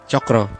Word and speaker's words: Tjokro: Ini kan sebenarnya nama lo TJ, agak susah gue nyebutnya kalau misalnya Chokro atau Chokro. Chokro. Intinya itu ejaan lama sebenarnya. Iya sebenarnya kan, berarti baca C aja C, ya.